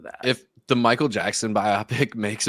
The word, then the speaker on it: biopic: Like I think because my buddy also says whatever biopic, it is, biopic, and I'm like, what the fuck is a biopic?